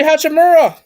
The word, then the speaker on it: Hachimura: bradley bill uh uh hutchin morrow if i pronounced it really hachimura yeah uh daniel gafford